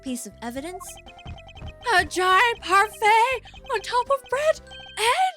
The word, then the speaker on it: parfait: Is it pronounced parfait or I don't think the T is pronounced.